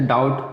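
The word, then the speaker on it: doubt: जैसे डाउट, डाउट नहीं पढ़ते हैं, बी साइलेंट रहेगा, डाउट।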